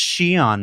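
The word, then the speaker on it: Xi'an: to comments and say, it's pronounced Shion, Mark, get a better hobby. I'll say you'd be correct.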